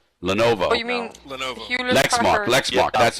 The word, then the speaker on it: Lenovo: it was another company um it's another company lenvo Lenovo you mean Lenovo Lex Mark Lex Mark that's who it was